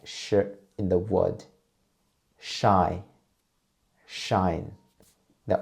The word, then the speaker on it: shi: Sh is an aspirated consonant, and you can almost find the same way as when we pronounce zh and ch. To make the sh sound, first, you need to turn up the tip of your tongue toward, but not touch the hard palate, please.